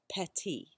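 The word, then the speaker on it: פתי: on your translation and that Hebrew word is petty it sounds like the English word petty and which this the accent on the syllable is a little different but still I think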